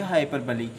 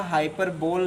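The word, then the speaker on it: hyperbole: उस टेस्ट की प्रक्रिया को पूरा करने के बाद हम फिर से आपको पढ़ाएंगे हाइपरबली। आप लोग इसका रॉन्ग प्रोनाउंसिएशन ना करिएगा, हाइपरबोल ना पढ़िएगा, हाइपरबली ही पढ़िएगा, जिसकी हिंदी होती है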